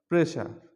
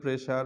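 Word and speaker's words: pressure: উচ্চারণ স হবে যেমন প্রেশার প্রেশা প্রেশার আমরা সবাই বলি এটা প্রেসার বা প্রেশা প্রেশার যেমন এখন আমরা যখন কথা বলব তখন আমরা এটাকে বলব প্রেশা এবং আশুয়া আশুয়ার আমরা কিন্তু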